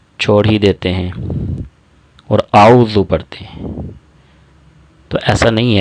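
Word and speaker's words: أعوذ: لمبا کیا جائے گا۔ اور پھر اگلی غلطی جو کی جاتی ہے وہ ذال کو زا پڑھا جاتا ہے۔ تو درست تلفظ کیا ہے؟ اعوذ۔ حمزہ اور عین کی آواز میں بھی فرق ہونا چاہیے۔ اعوذ، اعوذ، جیسے پہلے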